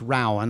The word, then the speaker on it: Rowan: It's pronounced Rowan.